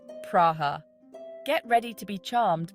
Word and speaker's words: Praha: welcome to Prague or as the locals say it praha get ready to be